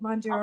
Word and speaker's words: Mounjaro: You said it right, Mounjaro.